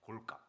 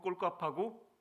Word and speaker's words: 골값: 근데 이걸 잘못 사용하시고 이거 꼴값하고 뭐뭐 하고 있네 이렇게 되죠. 발음 주의하셔야 됩니다.